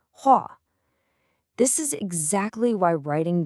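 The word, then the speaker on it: 火: It looks like hu-o, right? But the sound is way different. It's more like hua.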